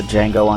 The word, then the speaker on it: Django: so excited for the Django Unchained. The Django Unchained. Christmas nights. Shut up, Sebastian. Fuck you, What's your name? motherfucker. Django. The D is silent.